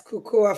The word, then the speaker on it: Kukuwa: Am I pronouncing correctly? Yes. Cuckua fitness correctly.